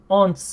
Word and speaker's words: once: Once. Once. Once. Once. Once. Once. Once. Once. Once. Remember, it's not once like the English pronunciation of this character combination. It's once.